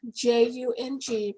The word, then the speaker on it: Jung: psychology and that's where i found carl jung j-u-n-g pronounced jung actually but nobody knows who you're talking